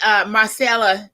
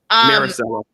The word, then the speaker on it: Maricela: And you know, and Marcella, did I pronounce that right? Cozier? Maricela. Maricela.